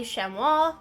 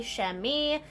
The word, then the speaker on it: chamois: There's also these guys, the shemo, also known as the sheami. It depends on where you're from. Don't come for me the pronunciation because there's two distinct pronunciations.